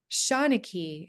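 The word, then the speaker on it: seanchaidh: Um, I've got another video coming out with Graham Tom, who's the clan Shawnee is how you pronounce it for him, for Clan MacThomas, and Yes.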